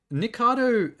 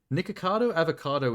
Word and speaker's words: Nikocado Avocado: Yeah, but Nikado, how do you say his name? Nikocado Avocado is horrifying in real life.